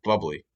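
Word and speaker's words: Bublé: go over that one but i'm talking about michael buble okay and i don't like that actually actually it's pronounced bubbly i don't like michael bubbles he i think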